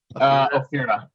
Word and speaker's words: Ophira: How do you pronounce that? Ophira? Ophira, yeah.